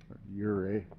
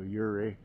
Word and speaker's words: Ouray: see it in the daytime here in uray uray I've been told is how to pronounce it so uray here's our uh our room up there we